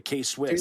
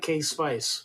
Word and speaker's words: K-Swiss: The K-Swiss. Do they? The K-Swiss tennies. That's Swiss. I had no idea. Swiss? Yeah. Okay, that's it. I always pronounce it K-Spice, but I didn't make the connection.